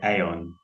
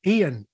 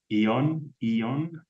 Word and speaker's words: aeon: I would say aeon.